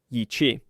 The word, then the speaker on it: Yi qi: Yi qi. Pronounced "ee chee", it means strange wing in Mandarin.